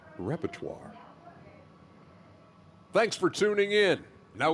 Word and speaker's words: repertoire: And it's pronounced repertoire.